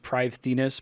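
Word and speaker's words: Prifddinas: in a pathway that appears to go to PRI I'm going to just call it PRI I know it's pronounced privus but I think I hear every content creator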